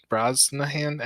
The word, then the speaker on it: Brosnahan: Brosnahan. Anyway, that's her. That's She's actually Mrs. Maisel. pretty good. That's actually how you pronounce her last name, Brosnan.